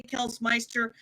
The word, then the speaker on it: Kels Mister: It's spelled Kels Mister. I say Kels Meister. I was 9. It was Neopets. My cousin made the username. I will I will die on that gravestone. It says Meister, not Mister, even though it's spelled Mister.